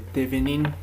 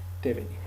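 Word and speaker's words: Thévenin: Bueno, alguna bibliografía o alguna pronunciación menciona Thevenin, pero bueno, como estamos en Bolivia, yo simplemente lo pronuncio tal como se lee, Thevenin.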